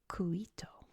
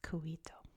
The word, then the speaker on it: Cuito: Angola to make sure I'm not coming from a Spanish mindset, I'm coming from a Portuguese mindset. So the capital of BA, I believe, is pronounced Cuito, based on the various spellings.